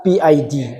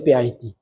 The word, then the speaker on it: PID: I bacanya PID begitu ya. Ejaan English ya. PID.